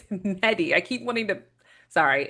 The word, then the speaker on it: Mehdi: It's not Mehdi, it's Mehdi.